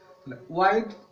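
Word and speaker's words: wide: ওয়াইড এটাকে অনেক সময় ভুল করে অনেকে হোয়াইটও বলে, কিন্তু হোয়াইট নয়, এটি ওয়াইড মানে চওড়া।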